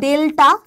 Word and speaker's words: ডেলটা: কিন্তু আমরা Greek letter এটার উচ্চারণটা হচ্ছে ডেলটা আর এটাকে আমরা চ্যুতিকোণ